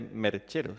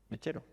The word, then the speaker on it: mechero: Entonces ella le corrige y le dice: no se dice merchero, se dice mechero.